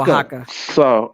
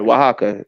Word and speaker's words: Oaxaca: Oaxaca, I think that's what it is. I'm not even gonna mess. It's pronounced Oaxaca. Sorry, Oaxaca.